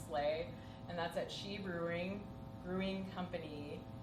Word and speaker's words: Sidhe: I run a monthly showcase called Slay, and that's at She Brewing Company. She is spelled Sidhe.